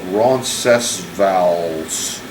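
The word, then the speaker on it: Roncesvalles: That f first one I pronounce more like an American would.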